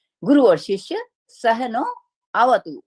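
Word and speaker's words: सह नाववतु: टू, गुरु और शिष्य सहनो अवतु, ये संधि हुई हुई है, लेकिन जब हम इसको विश्लेष करेंगे तो सहनो अवतु, लेकिन जब हम उच्चारण करेंगे, क्योंकि ये यजुष है, तो सहना अवतु, तो मतलब हम गुरु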